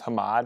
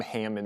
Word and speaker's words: Hamad: His last name is Hamad, and people just called him Hammond.